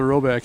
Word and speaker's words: Roback: Yeah, you know how things are with those, but we'll try to set you got all the Roback. It rhymes with throwback.